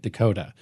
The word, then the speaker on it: DeCoteau: Okay, because people DeCoteau. say your last name multiple ways. Yeah, I pronounce it like the state, Dakota.